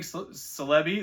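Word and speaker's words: Celebi: full detail here shining celei that's how I pronounce it like celery Japanese neo4 PSA 10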